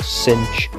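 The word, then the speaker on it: sinh: case shine now the way i said that there is shine is in the sunshine now these are pronounced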